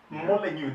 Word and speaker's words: Molineux: Molineux, the X is not pronounced.